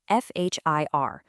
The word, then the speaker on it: FHIR: Well, the magic that ties all of this together is a modern data standard called FHI. That's spelled Fhir.